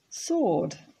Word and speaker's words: sword: No. Sword, not sword.